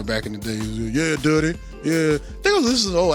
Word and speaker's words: Dutty: I Y'all know if y'all listened to the show, I used to pronounce it dirty. I don't know why. I think I was listening to at Aliens or something from Atlanta back in the day. Yeah, Dutty.